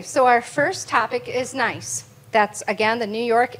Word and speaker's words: NICE: So NICE, and it's pronounced NICE, N-I-C-E, but we are a statewide partnership and a resource for all things related to employment.